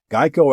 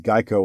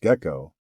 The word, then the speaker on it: GEICO: geico introduced the gecko as geico was often mispronounced gekko the tiny green happy